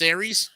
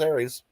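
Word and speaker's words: Ares: no ey in there no it's it's still pronounced Aries okay yeah still pronounced Aries okay in order to destroy dark and ensure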